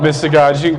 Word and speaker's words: mystagogy: It's called, there's different ways to pronounce it, but I say mystagogy instead of goji.